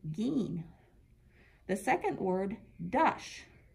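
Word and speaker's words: giin: look here mean - two eyes together is always the sound of e so our first word G I i M is pronounced gene the second word -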